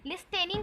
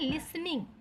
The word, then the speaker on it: listening: यहाँ पास जो टी है ना वो थोड़ा सा साउंड उसका क्या हो जाता है, साइलेंट हो जाता है। साइलेंट मतलब हमें ठीक से सुनाई नहीं देता। जब हम उसे प्रोनाउंसिएट करते हैं, बोलते हैं, तो उसका जो साउंड है वो क्लियरली सुनाई नहीं देता। तो हम इसको लिस्टनिंग नहीं बोलते, लिसनिंग बोलते हैं।